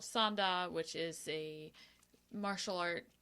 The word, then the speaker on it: Sanda: And it's sanda? Sanda. Sanda. Is that Correct. Korean? It is Chinese. Sanda. Yes. Spell that.